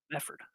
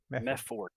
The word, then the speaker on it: Mefford: Mefford. M-E-F. Mefford. Yep. Yeah. Okay. All right. It's so kind of like method with a TH, right? But Mefford. The D on the very end, bud.